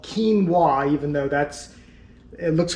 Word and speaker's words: quinoa: really weird you may not know how to pronounce it it's called quinoa even though that's it looks kind of funny